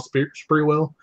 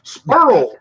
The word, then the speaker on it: Sprewell: That had an announcer that would say, of course, he mispronounced a lot of the names, like Latrell Sprewell. It was Spurl for 3.